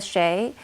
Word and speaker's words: Xie: they list a bunch of resources and linda shea who is the co-founder and managing partner at scalar capital her last name is spelled xie she does a lot of primers